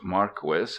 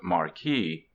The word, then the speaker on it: Marquis: by Don Marquis Don Marquis is a real name not a pseudonym it is pronounced Marquis not Marquee I reprint here two